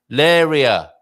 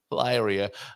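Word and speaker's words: Leiria: So yes, and let's go for some British pronunciation here. Laria. I'm going to go to Laria. What about you? You're American. We might lay, but we'd probably say Lyria. Lyria.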